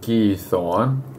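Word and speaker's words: Giethoorn: up and check out I think it's pronounced gee Thorn which is here they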